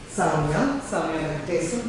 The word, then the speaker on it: Saumya Venkatesan: My name is Saumya Venkatesan. This is how you say my name. It's not the phonetic spelling. It's not written as it's said.